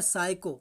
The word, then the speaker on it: psycho: तो ये क्या हुआ, पी को हम यहाँ पर नहीं पढ़ेंगे, हमारा हो जाएगा साइको।